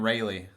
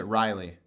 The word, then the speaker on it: Raleigh: right what we're in Rayleigh so I don't I don't really don't care like there's regional pronunciations I really don't care so you so you you pronounce it Riley yeah interesting that's just